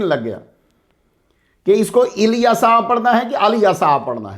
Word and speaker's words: الیسع: آؤ گفتگو شروع کریں، بات ہو گئی۔ حضرت الیسع علیہ السلام، جب آپ تنہا پڑھیں گے تو